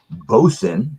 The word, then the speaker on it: boatswain: of their bargain beers it's called bosun even though it looks like it's spelled boatswain Chocolate Stout ad 5.4%